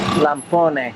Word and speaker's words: lampone: Lampone.